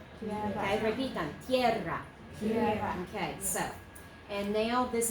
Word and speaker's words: tierra: And this one has 2 syllables here and here. And the second syllable does have the rolled R if you can do it. Tierra. Okay, repitan. Tierra.